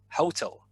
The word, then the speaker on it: hotel: Atel, you stress the second syllable, right? Atel in Russian, atel. Whereas in English, Russian people tend to stress the first syllable, hotel.